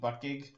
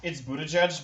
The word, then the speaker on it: Buttigieg: Are you talking about Pete Buttgig? Yeah. It's Buttigieg, but it's way funner to say Buttgig.